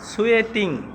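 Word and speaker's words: sweating: সুয়েটিং। সুয়েটিং, তোমরা আবার উচ্চারণে ভুল করবে না।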